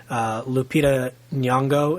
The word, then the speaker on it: Lupita Nyong'o: Lupita Nyong'o, is that how you say her name?